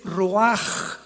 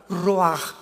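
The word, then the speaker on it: רוח: La palabra para espíritu en el hebreo es la palabra que es roaj, que se escribe ru con ch, pero repito, ese pronuncio pronuncia como J. Roaj, roaj el kadosh.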